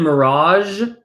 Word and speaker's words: mirage: Same in mirage, this G in mirage, that's a Z like that J.